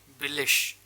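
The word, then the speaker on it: billig: बिलिश, बिलिश, आई जी एंड में है तो इश की साउंड आ गई, बिलिश, जिसका मतलब होता है चीप।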